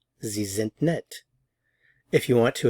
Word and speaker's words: Sie sind: Sie sind. Notice the pronunciation of the S's.